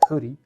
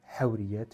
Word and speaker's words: Houris: Il s'agit de Huri, Hawriyat, Houris, comme certains le prononcent, de Kamel Daoud chez les éditions Gallimard.